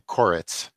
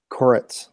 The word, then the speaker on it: Koretz: And can you just for our for me to make sure that we pronounce your name right, could you pronounce it for us? Koretz. Koretz.